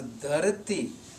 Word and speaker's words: dharati: So the word dharati will only mean earth if it is spoken as dharati. Otherwise, it will have some other meaning.